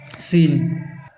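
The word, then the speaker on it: scene: अब सीन को पढ़ के देखिए। इसमें होता है सी का उच्चारण नहीं हो रहा है ना? केवल एस ई एन का उच्चारण हो रहा है।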